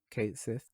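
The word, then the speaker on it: Cait Sith: character, but yeah, they officially confirmed the English pronunciation, which is Kate Sith.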